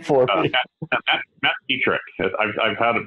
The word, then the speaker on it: Pietrek: Matt Pietrek. I've had it butchered all over the place, so Matt Pietrek.